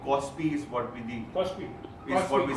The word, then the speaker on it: KOSPI: Kospi.